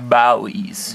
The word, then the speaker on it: Bowie: reviewed a large survival knife other than the buoys we've been doing we have been doing some buoy nights but they're not really always it's pronounced bowies bellies they're not really designed as outdoor blades